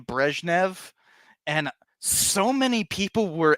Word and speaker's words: Brezhnev: because I pronounced it Brezhnev. It's literally that minor of a difference. Brezhnev, Brezhnev. That's it. And also in English we don't have a zh.